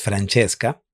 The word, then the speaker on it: Francesca: La fonética nos indica que las palabras en italiano debemos pronunciarlas eh emitiendo un sonido de CH cuando veamos una C, por ejemplo, en este caso acompañada de una E, ¿no?